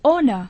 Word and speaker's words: honour: इन शब्दों को बोलिए तथा हिज्जों और उच्चारण को याद कीजिए, जैसे GNAT नैट, लड़ाकू विमान। HONOUR ऑनर, सम्मान।